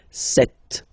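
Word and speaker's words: sept: Then here, remember, P is not pronounced. Okay, it doesn't exist. So you get this set sound.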